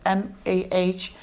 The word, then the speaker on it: Mahalia: Do you guys listen to, I don't know how to pronounce her name, Mahalia? Oh my God, I'm addicted to her songs. It's Mahalia.